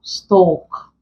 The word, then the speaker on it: stalk: For example, stalk. If you were to transcribe this, we get long vowel sounds. Once L comes after it, it becomes silent.